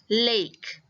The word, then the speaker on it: lake: So again, this A will not make the sound, but instead it will say its own name, which is A. So this will be lake.